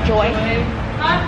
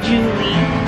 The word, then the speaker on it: Joy: Joy. Joy. Joy. Joy. You know, when they ask your name, they always say Julie. I've got George. I say Joy. Julie? No. One syllable. Just one syllable, bro.